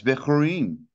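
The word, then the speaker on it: בחורים: It's almost like bickering, but it's spelled with a het. And yeah, it's Bechorin.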